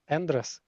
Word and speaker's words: Andres: Andros. Andress. Yeah. Yeah. It's right pronunciation. Andress.